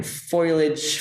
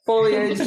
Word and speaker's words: foliage: possible and I I just used backlight and foilage fo you know trees Fage foliage thank you know I said it wrong um